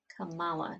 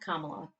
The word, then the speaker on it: Kamala: She's Kamala, not Kamala, Kamala. It's Kamala Khan, Kamala Harris. Same spelling, different pronunciation.